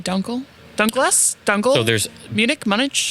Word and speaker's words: Dunkel: Dunkel, Dunkless.